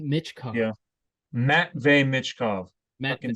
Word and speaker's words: Matvey: They are loading up to draft Matevy Michkov. Yeah. Matvey Michkov.